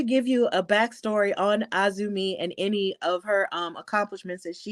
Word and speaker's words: AZM: kindly to having Mercedes pronounce her name as AZM, because, of course, it is spelled out AZM, even though it is Azumi.